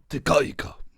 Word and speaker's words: Te Kahika: Well, if you want to pronounce it syllabic, I want to pronounce it correctly. Te Kahika.